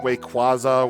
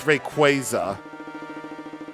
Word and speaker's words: Rayquaza: But I remember that they did actually specifically make an article about most commonly mispronounced Pokemon names or something. And people have been saying like stuff like Wayquaza Wayquaza wrong or something.